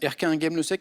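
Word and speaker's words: Erquinghem-le-Sec: très fier de ma prononciation d'Erquin Game le Sec, ça allait. C'est ça, parfait. Erquin Game le Sec, qui est pas très loin d'Erquin Game le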